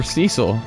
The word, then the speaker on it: Cecil: Poor Cecil. Or Cecil. I keep saying Cecil. According to World of Final Fantasy, it's pronounced Cecil, but...